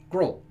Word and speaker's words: Grol: I pronounce something so his name is G grol gruel now I pronounce that grill but you could also